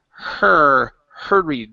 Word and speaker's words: hurried: Okay, let's go to the word hurried. Like, hey, her. Look at her. Okay, even though it's a U-R, it's still pronounced hurried.